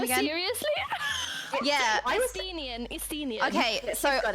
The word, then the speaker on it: Estinian: butchered Wait, how do you say his name again? I read his name as Einstein?